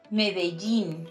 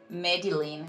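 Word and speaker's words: Medellín: any other thing and also Medellin not Medellin or Madeleine I've heard this one too Mexico so I opened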